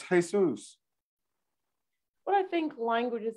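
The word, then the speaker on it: Jesús: But you know, people in Mexico, they name their child Jesus, but Jesus. Yeah, it's Jesus.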